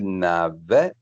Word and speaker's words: n'avait: So it's still the same pronunciation. So it's il n'avait.